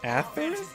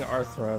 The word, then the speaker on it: Atherin: I learned to pronounce Atherin, which was a positive. Atherin? I kept saying Arthron, my bad.